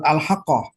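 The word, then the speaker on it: الحاقة: Nanti ada kalimat misalnya di surat Al-Haqqah.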